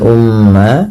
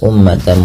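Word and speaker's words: أُمَّةً: Kemudian ummatan muslimah berlafal umma di sini mimnya berharakat tasydid dan berwarna hijau. Artinya ia bacaan gunah dan perlu ditahan dalam pelafalannya. Ya, umma tidak langsung dilepas ummatan muslimatan.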